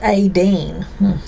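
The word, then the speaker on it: Étaín: but it's pronounced Aideen.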